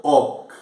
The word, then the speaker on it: hoc: o H non è pronunciato hoc, è facimus.